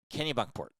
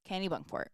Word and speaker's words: Kennebunkport: go we stayed in Kennebunkport Kenny bunkport Kennebunkport and actually it's the first time I said it right I think that's correct